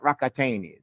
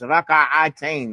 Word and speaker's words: ركعتين: That's not rakataini. The Americans say rakatain. It's raka'atain. Raka'atain. Not rakataini. Two rockets. Rakataini. It's not rakataini. I know you blast off with your khushu'ah, but it's not rockets. It's raka'a. Na'am. Raka'ataini.